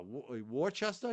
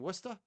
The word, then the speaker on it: Worcester: Ah, Warchester. You mean Worcester? What? It's funny to watch the out of town people pronounce our towns.